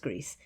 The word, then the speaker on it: Gris: it green is it griss but it's Greece apparently as far as I can tell it's pronounced Greece because it means gray uh and the idea